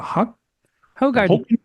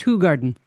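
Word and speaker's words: Hoegaarden: A hot garden. Who? Actually, he he says it's pronounced Hog Garden.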